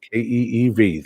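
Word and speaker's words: Kyiv: It is Kiev, Keev, like your second one there. It is not Kiev, like we've always been taught. It's Kiev. Okay, that is the correct pronunciation. Kiev sounds cool, but it ain't right.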